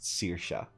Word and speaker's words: Saoirse: It's pronounced Saoirse.